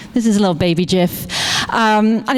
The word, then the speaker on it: GIF: I'm going to go with GIF, like giraffe.